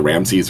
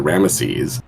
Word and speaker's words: Ramesses: enough includes ramsey uh which egyptian eutectologists would pronounce either ramses or ramesses what we know from those cuneiform transcriptions was really pronounced something close to the amma in ramesses so i blame i